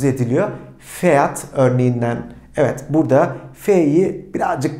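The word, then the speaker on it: Pferd: Peki P ve F harflerini yan yana gördüğümde arkadaşlar bu sert bir pf pf şeklinde telaffuz ediliyor. Fiat örneğinden evet burada F'yi birazcık daha çok az bir sertlikte telaffuz etmiş oluyoruz.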